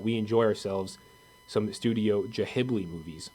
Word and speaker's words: Ghibli: I need you to pronounce it correctly. Ghibli.